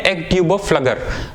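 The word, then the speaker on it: Pflüger: इसको हम बोलते हैं एग ट्यूब ऑफ फ्लगर।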